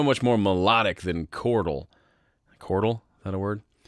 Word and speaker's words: chordal: Chordal? Is that a word? Chordal rhymes with chortle, which means to laugh.